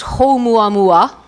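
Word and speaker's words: ʻOumuamua: If I got it correctly, you're supposed to pronounce it as Oumuamua, which is actually a Latin name, Hawaiian name for first messenger or scout.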